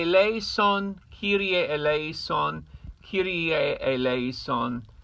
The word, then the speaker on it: Kyrie eleison: tenor tenors all tears the Latin pronunciation is cutie a a lace on Kiryat Eleison Kyrie Eleison q da la somes pretty easy it's the